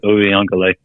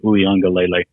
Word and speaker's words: Uiagalelei: They lost 10-3, but DJ Uiagalelei, I believe is how you pronounce it. Uiagalelei.